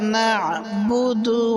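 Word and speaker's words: نَعْبُدُ: না'বুদু, নুন আইন জবর না, গলার ভিতরে হালকা চাপ দিয়ে আইন উচ্চারণ হবে।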